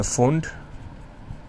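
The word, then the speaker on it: Pfund: ये है फुंड, P silent है, और लास्ट में 7 to 6।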